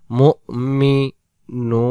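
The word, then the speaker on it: المؤمنون: মিম হামজা পেশ মু, এই জায়গায় হামজাটা উচ্চারণ হবে, ওয়াওটা আদেই হবে না। মু মি নুন, নুনে গিয়ে মিলাই দেব নুন।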